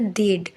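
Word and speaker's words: they'd: दे हैड है तो क्या होता है, एच ए को हटाते हैं, दे के बाद एपस्ट्रॉफी लगाते हैं और डी लिखते हैं और इसका प्रोनाउंसिएशन होता है देड।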